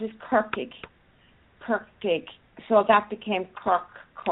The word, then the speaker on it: Cork: So that became Cork. I would just make sure you pronounce that R.